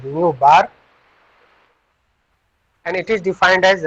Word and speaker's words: nu bar: It is pronunciated as nu bar.